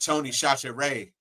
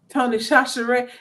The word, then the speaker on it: Tony Chachere: Well, it begins with a CH, but we just said Satchery because why not?